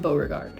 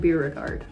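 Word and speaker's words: Beauregard: And that book is Playground by Aaron Bogard. I said his name wrong. Playground by Aaron Beerard.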